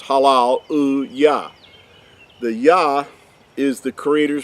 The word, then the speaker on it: hallelujah: a lot of times in modern times hallelujah. But in ancient Hebrew, it was pronounced as halal uya.